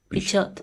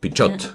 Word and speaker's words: Pichot: So then I have to pronounce the T. Pichot. Pichot.